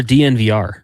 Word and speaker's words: DNVR: Is it Is it Denver Sports or DNVR? Uh How do you say it? You say it You You say all all four letters.